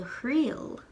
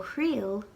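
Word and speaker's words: thriail: from my lenition video, that will change the sound from trill to hrill with an H instead of a T sound. Then you add your subject, which in this case is mamui. Do hrill mamui.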